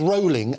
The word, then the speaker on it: Rowling: So what this story is not about, and it's Rowling, as in bowling, and that's how she pronounces her name, so revelation for everybody.